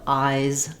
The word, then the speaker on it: eyes: because it's a vowel when we add the letter s the S is a z so thinking of eyes eyes making sure that you have that voiced z sound sound at the end I don't need a